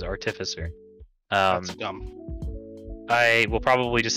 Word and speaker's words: artificer: artificer uh which is apparently how you're supposed to pronounce artificer as artificer um i will probably